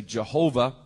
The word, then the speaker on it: Jehovah: Testament the name of in English we often say Jehovah probably the Hebrew pronunciation